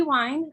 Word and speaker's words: Wyn: okay so i'm katie wine uh like leah said wine pronounced like the kind you enjoy in the glass um you can find